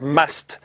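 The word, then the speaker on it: musth: are in a stage known as must which is spelled m u s t h and apparently an Indian word must is the the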